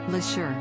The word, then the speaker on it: Leshurr: tricky start to her time on the show la sure has bounced back and looks set to stay in the contest for a long time one thing that may not stop though is people mispronouncing her name lasher who won the 2016 mobile award winner for